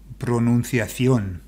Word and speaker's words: pronunciación: And then the emphasis goes on the O because it's got the tilde, so that helps.